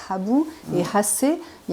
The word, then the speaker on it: Habu: Et donc, Habu, en plus dans le cas de Habu, en japonais ça se prononce Habu, et Hasse, il y a vraiment aussi, même leur nom même est très proche.